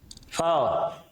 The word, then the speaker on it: foe: फाव, ये इसमें इसका जो उच्चारण है आप ये ऐसे करें फाव।